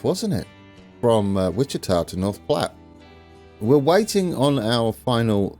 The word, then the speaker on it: North Platte: cities and we have North Platt the correct pronunciation I don't know why I went with North plate but there we go it is North Platte and it was a